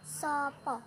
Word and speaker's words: sapa: di dalam bahasa Jawa itu cukup sapa Hai tapi cara pengucapannya itu sopo pakai lo nggak penuh ya sopo tanda tanya Nah